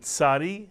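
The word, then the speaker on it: צדי: have the ion silent the Sadi the TZ sound and the final mitan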